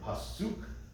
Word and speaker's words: pasuk: So in the word pasuk, suk is accented, so they put this little symbol here, on the accented symbol.